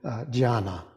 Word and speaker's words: dhyana: It's the Japanese pronunciation of what was originally the Sanskrit word dhyana, D-H-Y-A-N-A, and which the Chinese pronounced as chana, and then shortened to chan.